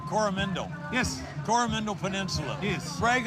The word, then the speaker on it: Coromandel: Now, you're the mayor, or let me see if I say it right, Coromandel.